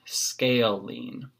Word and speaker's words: scalene: isn't the most obvious thing on how to pronounce us say it again scalene in a scalene triangle they all have different